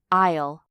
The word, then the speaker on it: aisle: And finally, the seventh word is aisle. Notice the pronunciation the letter es is silent.